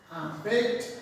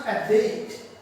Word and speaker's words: abet: Abet in. Mind it? It pronounces abet, not abate.